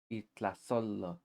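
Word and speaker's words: itlazollo: Itlazolo. Don't get mistaken, this looks like a lo, but it's actually a yo in disguise. It changes into an L to blend in with the environment.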